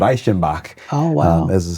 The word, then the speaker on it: Reichenbach: We pronounce it Reichenbach, as the name goes phonetically, but mom and dad and adopted me.